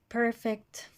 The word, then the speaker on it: perfect: invite a second syllable perfect first syllable quickly first syllable okay